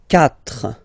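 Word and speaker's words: quatre: So remember that even if you get this U vowel here, basically you don't pronounce it, because that's the rule in French. When we get this Q letter and then a vowel after, then we will have to put this U, okay?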